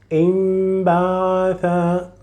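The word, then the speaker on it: انبعث: So you will say im, not in, imbatha, imbatha, imbatha. So you will pronounce it like here exactly. So you will delete completely the letter noon, and in its place you will pronounce mim, not imbatha. This is not correct. The correct pronunciation is imbatha.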